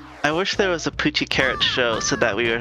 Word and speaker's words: Puchi Carat: it fortunately $2 Tuesday we pronounce it poochie carrot um I don't actually